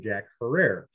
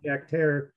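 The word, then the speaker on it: Jack Herer: strain is Jack hair I pronounced it wrong forever and called it Jack Ferrer and I was told this Jack it's Terror like Terror so this is Jack Terror and he's the badass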